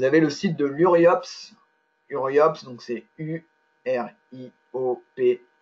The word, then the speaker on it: URIOPSS: ce site internet et uriopss comme ça se prononce avec deux aces à la fin et sinon pour le